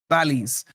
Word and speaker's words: Bally's: Is it Borley or Bally? Bally's.